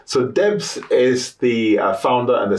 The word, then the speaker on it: Debo: my name I've had the proper pron pronunciation is De that's the Nigerian pronunciation um y um but